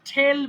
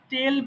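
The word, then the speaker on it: tell: ওকে, ঠেল বলা। আমি কিন্তু টেল বলিনি, বলেছি ঠেল, ঠ।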